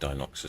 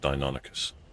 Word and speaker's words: Deinonychus: I still think Dinoxys sounds better, but I think it's actually pronounced Deinonychus.